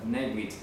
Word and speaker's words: Bnei Brit: Ustedes pueden encontrar en internet pronto a través de la pronunciación en inglés como Bnai. Puede aparecer así en internet. Bnei Brit. Algunos colocarán Beritz, etc. La pronunciación como la escriban puede variar en inglés, pero esta es la pronunciación estándar en español.